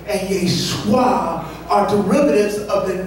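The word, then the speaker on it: ישוע: Jesus' name in Aramaic is pronounced Yeshua. Are you seeing it? Both Yeshai and Yeshua are derivatives of the name Yeshua.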